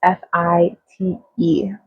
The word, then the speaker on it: Fite: I'm not sure how to pronounce that. It's Fite. So hopefully I pronounced it right.